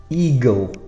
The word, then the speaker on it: eagle: Eagle. So it's an E and an A at the start, one sound, E, and then gl is G-L-E.